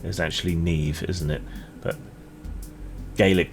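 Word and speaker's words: Niamh: Yeah, I Yeah, it's meant to be pronounced Slier. And Nema is actually Neve, isn't it?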